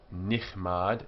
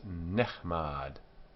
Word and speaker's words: nechmad: So it's not nichmad, it's nechmad. The strong guttural ch has a simple shwa, which is silent.